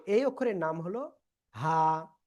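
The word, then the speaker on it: ه: তো এই অক্ষরের নাম হলো হা। এই যে গলার শুরু থেকে এই অক্ষরটা উচ্চারিত হয়। হা, হা। এক আলিফটা নিয়ে উচ্চারণ করবো।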